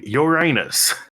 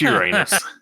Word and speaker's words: Uranus: No, it's Uranus. It was the first planet to be discovered since antiquity, so up until Uranus was discovered, or Uranus, if you want to pronounce it that way so you don't say anus, all of the other